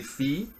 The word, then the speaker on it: Phi: called Phi right so that's Phi or if we wrote it phonetically fee and what Phi is